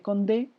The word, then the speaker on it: Condé: El duque de Guisa por parte de los católicos y el príncipe de Condé, Condé, así de como conde, pero con acento en la última, Condé, que además fue capturado, ¿no?